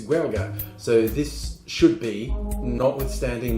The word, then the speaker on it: Gaeilge: It's Gaeilge, so this should be, notwithstanding my appalling pronunciations, this cocktail is the Parlez Vous Gaeilge.